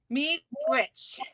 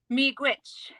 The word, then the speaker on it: miigwech: Miigwech. Say it one more time. Miigwech. Miigwech. Miigwech. Yes, miigwech. All right, miigwech. Yeah. So thank you so much, miigwech, to you all, and I really appreciate having me on.